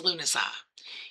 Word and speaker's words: Lughnasadh: I pronounce it as Lughnasadh.